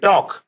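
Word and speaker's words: talk: नहीं आ रहा है एंड टॉक टी एल के टॉक में अगेन एल साइलेंट तो इसका प्रशन है only टॉक right now next exercise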